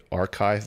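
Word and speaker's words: arXiv: a website called um I think you say archive but it's spelled like AR i x something it's where a physicists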